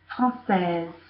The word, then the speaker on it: française: So pronounce the S there, française. And actually it sounds like française, sounds like a Z, because you have the S. So the S here is between two vowels.